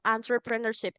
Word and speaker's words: entrepreneurship: Entrepreneurship. Cara bacanya bukan enter ya, tapi answer. Kayak A gitu awalnya.